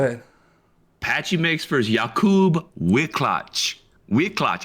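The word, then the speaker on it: Wiklacz: Patchy Mix for Yakub Wicklatch. Wicklatch. I think I did pretty good there. That's probably wrong, but it's W I K L A C Z. Wicklatch. That's my guess for the Polish pronunciation.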